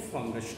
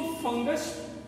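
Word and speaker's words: fungi: इसको फंगस, फंगी भी बोलते हैं और फंजी भी बोलते हैं। कुछ लोग के प्रोनाउंसिएशन कुछ अंतर पड़ता है, कुछ विद्वानों का अंतर पड़ता है। हम इसको जनरली फंगी बोलते हैं।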